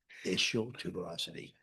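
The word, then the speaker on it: ischial tuberosity: There's a bone called your isial tuberosity. Okay? And that's the word and that's how you say it. Issial tuberosity.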